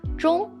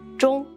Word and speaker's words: 钟: But in the Chinese culture, the word clock, 钟, has the same pronunciation as final, 钟, meaning you're giving me a gift before I travel to heaven or hell.